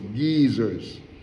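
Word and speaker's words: guisers: of young men were called geysers, geezers, they pronounce geezers, and because they wrote,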